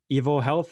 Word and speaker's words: EvoHealth: your your startup basically is it evil health am i pronouncing it right yes you are yes so